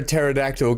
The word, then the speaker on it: pterodactyl: Dan Zilla says, why can't you hear a pterodactyl going to the bathroom? Because the P is silent.